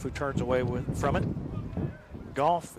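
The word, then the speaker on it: Gough: White will be back on the mound, and he sends a fastball inside to Goff, who turns away from it. Goff is spelled G-O-U-G-H. Rhymes with cough.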